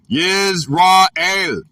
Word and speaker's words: Yisrael: The word is, in the Hebrew, Yisrael, pronounced Yisrael, from 8280 and 410.